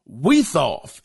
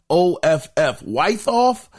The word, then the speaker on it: Wiethoff: The voice actor, Rob Weithoff, his last name is spelled Wiethoff. Weithoff.